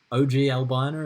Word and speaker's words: Ogle: with ogle next time on Owen or OGL boner is I've recently learned that's how you say it yeah this was a